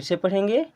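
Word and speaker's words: sip: से पढ़ेंगे take a अब एस आई प इसे हम पढ़ते हैं सिप देखें अगर आई लगा है दो लेटर के बीच में उसके बाद में ई है तो उसका उच्चारण आई की तरह करते जैसे बाइट पढ़े इसको अब यहां पर एस आई प लिखा देखो साइप नहीं पढ़ेंगे क्योंकि इसके लास्ट में ई नहीं है अकेला आई है तो इसे हम पढ़ेंगे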